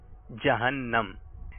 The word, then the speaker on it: جہنم: درست تلفظ بتانا ہے جہنم یا جہنم. دونوں کہے جاتے ہیں. جہنم. آپ نے جواب دیا جہنم. آقا کا گدا ہوں اے جہنم تو بھی سن لے وہ کیسے جلے جو کہ غلام مدنی ہو. صحیح تلفظ ہے جہنم.